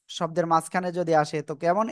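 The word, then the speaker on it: ك: জিব্বার গোড়া এখানে মনে করেন, এই যে এখানে না, এই গোড়া থেকে একটুখানি আগে বাড়াবেন, একটুখানি আগে বাড়িয়ে চিকুন আওয়াজে এক আলিফ টানিয়ে উচ্চারণ করতে হবে। কা।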